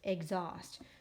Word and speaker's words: exhaust: now I know it has an H here it's silent you can't really hear it oh and there's my